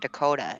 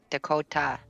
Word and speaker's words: Dakota: But I mean, the actual, how you pronounce his specific name is actually Dakota. It's not Dakota, it's Dakota. Yeah, but that sounds stupid. Yeah, but that's how it's pronounced in the Lakota Sioux language, is Dakota.